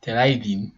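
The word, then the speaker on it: Terylene: nylon and there are terra lin terrain as it is pronounced so there's nylon and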